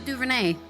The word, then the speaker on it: DuVernay: Ava DuVernay.